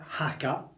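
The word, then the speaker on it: Jaca: The market town at the end of the valley here is called Haka. So it's haka. It's mostly H, but with a little bit of K if you can.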